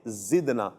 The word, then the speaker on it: زدنا: اچھا، یہ پیاری بچی یہ ذکر نہ پڑھ رہی ہے، کاف نہیں ہے، یہ دال ہے زدنا۔ کوشش کریں, چونکہ چھوٹی